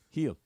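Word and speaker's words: Gil: are we talking about heel heel the guy that started the game yesterday is last name is spelled g this is infuriating to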